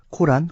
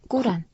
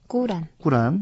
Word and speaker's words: 꾸란: 발음은 아랍 원어로는 발음으로는 이제 쿠란이죠. 꾸란. 꾸란.